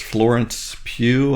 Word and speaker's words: Florence Pugh: It's this actress Florence Pugh, I think is how you say her name.